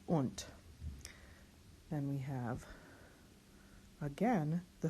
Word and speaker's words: und: consonants rather, and then the D at the end of a word is pronounced like a T. This is und.